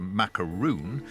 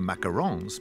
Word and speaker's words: macaron: as a charitable donation there's much debate about the correct pronunciation of these dainty delicacies often referred to as a macaroon but strictly speaking that's a coconut covered meringue dipped in chocolate quite different from the macarons being prepared here one thing's certain baking